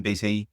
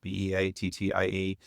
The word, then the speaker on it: Beattie: Beattie, Beattie. Stellify is the name of the company. It's spelled STELLAFAI.